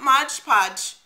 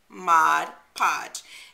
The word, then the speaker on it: Mod Podge: is my pet peeve when people mispronounce mod podge it's not modge podge mod podge comes in gloss comes